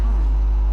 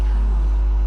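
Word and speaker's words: Charon: It's just as you described it, only your pronunciation is a little off. The name you heard wasn't Karen. It was C H A R O N. As in Kon, the fairyman of the dead.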